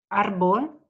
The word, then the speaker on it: árbol: A, ar, árbol. Perfecto. Vemos que tiene el acento en la A. Árbol.